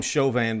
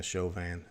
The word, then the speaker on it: Chauvin: chauvin i call him chauvin because that's how we pronounce it in louisiana chauvin and that's the proper french way of pronouncing it um so um derek